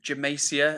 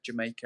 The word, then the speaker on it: Jamaica: I sure do remember I sure do remember Jamaica Hi because I was pronouncing your name as I was pronouncing your name as like Jamaicia, and you're like, "Nah, my name's like Jamaica." And then hi.